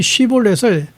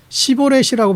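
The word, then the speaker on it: שבולת: 근데이 에브라힘 사람들은 사투리가 심해서이 쉬볼렛을 시보렛이라고 반음하는 거. 그러니까이 발음에서 안 되면 잡아서 죽였어요.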